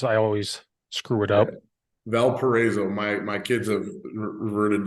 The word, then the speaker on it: Valparaiso: school has a big word that I can't pronounce I always screw it up Valparaiso my my kids have reverted to uh Valpo